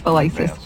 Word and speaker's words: Velisis: I would just say that Mayor Auburn, who unfortunately recently passed, always mispronounced my name. So just I'm remembering him fondly with that. I'm the worst in the world. Okay. Forgive me, everyone. It's Velisis.